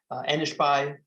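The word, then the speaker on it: Enishbai: and his mother being elizabeth anishbai is the way it's pronounced in the mandate language which is a dialect of aramaic and he's a priest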